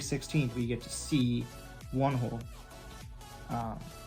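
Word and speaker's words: Whee In: see one hole um that's the way i believe you say it it's like you don't usually pronunciate the h's like really pronounce like pronunciated like that so it should be like one hole like that it's like you can still tell the h is there but you don't so one hole you know you gotta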